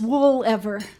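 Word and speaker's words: Woolever: know my last name my maiden name is wool ever yeah yeah to help people spell it my dad would say wool lasts forever wool ever it's like I'm related to wool ah wool forever Whispers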